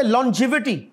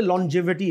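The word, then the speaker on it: longevity: lasagne हम कर चुके लो जिवि नी एल ओ एन जी तो लंग ही है लेकिन यह जब लफ बनेगा तो यह लो जिवि है लंबी उम्र को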